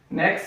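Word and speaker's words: nez: So next sound is A. E-R and E-Z. Here R is silent and here Z is silent.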